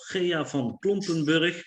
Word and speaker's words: Gea van Klompenburg: I will give you my latest book if one of you can pronounce the name of Gea van Klompenburg correctly.